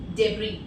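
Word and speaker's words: debris: लोग बोलते हैं केराटिन डेब्री। और गाइस, एक चीज आपने ध्यान रखनी है, इसको डेब्रिस नहीं पढ़ना है, S will be silent here, okay. ब्रिटिश English में इसका प्रोनाउंसिएशन होता है डेब्री, डेब्री, और अमेरिकन इंग्लिश में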